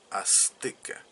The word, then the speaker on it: azteca: Incluso la misma palabra azteca se escribe con Z, pero no se pronuncia de esa manera, se pronuncia como azteca, como S, y es una S